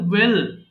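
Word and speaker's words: whale: ওয়েল মানে তিমি, এটাকে অনেকে ওয়েল বলে ফেলে, হ্যাঁ, এইচ এর উচ্চারণ হবে না, তো এটা সিম্পল ওয়েল, ওয়েল তিমি।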